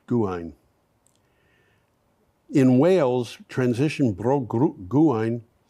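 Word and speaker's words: Gwaun: guard is Auber Guan uh gwu n is pronounced Guan in Wales transition bro Guan put up a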